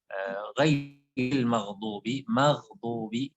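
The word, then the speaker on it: غير المغضوب: Jadi yang pian tekankan nantinya di dotnya. Ya. Ghairil maghdubi. Kalau nyodotnya itu menjadi tipis, itu menjadi mirip dengan dal.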